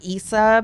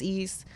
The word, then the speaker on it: East: Yeah, it used to be like Issa, but now it's just East.